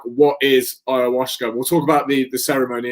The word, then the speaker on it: ayahuasca: And then you started to tell me about, I think I keep saying it right, an ayahuasca ceremony. Yeah, ayahuasca, yeah.